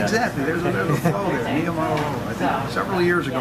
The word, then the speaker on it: Niumatalolo: Finally learned how to pronounce his name. Niumatalolo. Once you know it, it's not that bad. It looks a little daunting when you first see it. Yeah, you just follow the bouncing ball. Niumatalolo.